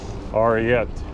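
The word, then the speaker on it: arete: And I was reading Zen and Art, and I think the word is spelled A-R-E-T-E. Ariet. It's a Greek word that apparently it sounds like, you know, Zen, it's tough for me.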